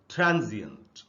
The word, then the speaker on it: transient: अगर आप देखेंगे जी के बाद आधा अ है। अब हिंदी में आधा अ नहीं होता, लेकिन इंग्लिश में आधा अ का साउंड होता है और उसका नाम भी है, उसका नाम है श्व साउंड। श्व की स्पेलिंग होती है SCHWA। तो ये आधा अ के जितना ही यहाँ पर रुकना है हमको, इसलिए हम इसको पढ़ेंगे ट्रांजिएंट। दूसरा जो वर्ड है दोस्तों